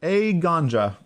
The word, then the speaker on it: Eiganjo: It's pronounced Eiganjo.